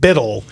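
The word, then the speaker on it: BUIDL: fund is represented and it is called Biddle a very tough one to understand because it's spelled Bui DL and it is the token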